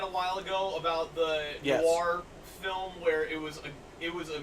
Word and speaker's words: Noir: I can see him playing a really fucked up, like, noir character. And I said it right. You did. Noir. There's no W in that fucking word.